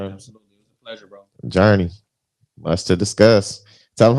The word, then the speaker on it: Jernē: That's Journey, not the Journey.